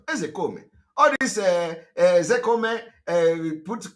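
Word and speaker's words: Ozekhome: Ezekome is the pronunciation.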